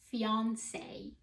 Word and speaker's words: fiancé: you see a word if you know it comes from French you will pronounce the letter A or the sound as an A so the first word